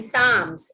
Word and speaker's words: psalms: of psychology is silent the p in psalms is silent the knight in the